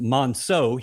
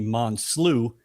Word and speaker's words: Monso: Now, my name is spelled or pronounced Monso. He called me Monsloo for six years.